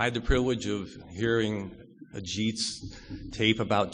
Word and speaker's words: Ajit: And I have about 2,000 versions ranging from A-shit to horseshit. And the spelling is A-J-I-T.